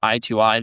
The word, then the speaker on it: I2I: gave you a little song bio breakdown of I2I. This was uh it is pronounced I2 I E T O E Y E.